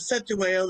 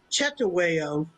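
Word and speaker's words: Cetshwayo: But it was hmm his, I don't know if it was his nephew or, well, some people pronounce it Cetaweo instead of Chetaweo.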